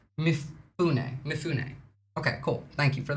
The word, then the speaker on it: Mifune: Anyway, on top of that, pronounced Mifune.